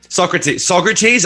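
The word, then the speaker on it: Saugerties: This festival took place on Winston Farms in Saugaters. How do you say it? Saugaters, saggy tits, Saugaters, sausages, New York, some fucking sog town in New York. Socrates. I never would have guessed Socrates.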